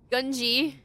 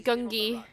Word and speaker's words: Gungi: his name is ganji oh I've been saying it wrong this entire time gunji I thought it was gungi oh my god let's